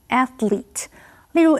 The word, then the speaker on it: athlete: Chloe 非常热爱电影。继续我们看的是 athlete 这个名词。Athlete 是指运动员，注意它的 L 后面的 E 是发 E 的音，念成 athlete。例如 After years of formal training, Frank became a professional athlete.